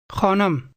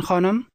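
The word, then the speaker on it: خانم: Khanam. Now say, "Excuse me, ma'am." Mebakhshin khanam. Both of these words contain a sound that does not exist in English.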